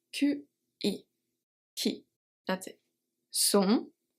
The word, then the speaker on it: sont: Sont, we don't say sont. Sont, T is silent.